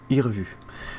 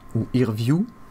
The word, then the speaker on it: Irvue: est génial qui s'appelle i revu et revu ouïr view plus tôt puisque ça se prononce à l'anglais c'est une application qui